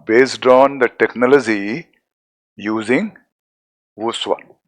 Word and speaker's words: voussoir: This means these are arch based on the technology using voussoir. Pronunciation is voussoir.